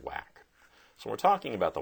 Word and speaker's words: WACC: capital is abbreviated wac which is pronounced wack so we're talking about the wack we need to keep